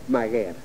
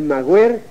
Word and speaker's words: maguer: es guernica y es maguer el mager ha sido una cosa cada de quienes en el siglo XVI y XIX hicieron ediciones de textos antiguos y como no sabían có se pronunciaba aquello pensaron que era así el origen es macarie